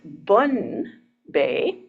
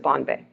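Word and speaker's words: Bonne Bay: n NE e and even though it looks like it should be pronounced bun Bay um it they pronounce it Bon Bay so that's where we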